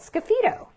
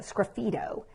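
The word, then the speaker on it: sgraffito: do a technique called Skippy dough so it's spelled really funny it kind of reminds me of graffiti but it because it looks like graffiti but it's SGR a FF IT Oh scruffy toe and what it is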